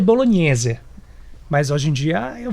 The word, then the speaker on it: bolognese: e tá certo falar bolonhesa no Brasil ou bolog como que se pronuncia a pronuncia certo É bolognese mas hoje em dia